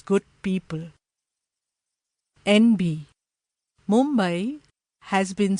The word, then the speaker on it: Mumbai: International television channels refer to the city as Mumbai, when it should be pronounced in its authentic Marathi way, Mumbai.